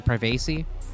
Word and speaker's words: privacy: privacy can't exactly well it's actually privacy sure whatever rhymes with primate can't exactly blame them